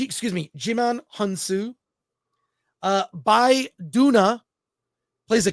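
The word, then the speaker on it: Djimon Hounsou: including General Titus played by uh I'm gonna mispronounce his name but you've seen this actor before Digiman honu uh Jim hansu yeah jimon g excuse me jimon hansu uh by Duna plays a character named nemesis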